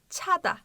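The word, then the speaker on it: 자다: gibi çeyrek içe oluyor ve CSS böyle başa geldiği zaman birazcık birazcık Ç yakın şekilde okunuyor Yani cadac Ada gibi demiyoruz da çağda birazcık daha çayı yakın Peki tada Çağ ne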